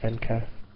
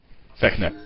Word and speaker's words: Vecna: It would be nice to do a playthrough the entire game because you'd get to keep things like the robe of Venka. Vecna.